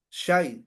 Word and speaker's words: xai: La palabra sai o sai, porque está es X-A-I, sai. Bueno, aquí en el dialecto aquí en México, en maya es la X se pronuncia como SH, shai, shai.